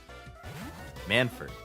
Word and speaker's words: Manford: Manford, not Manfort.